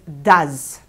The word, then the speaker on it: does: he she does does we also add es as the suffix but we pronounce this as does I do you do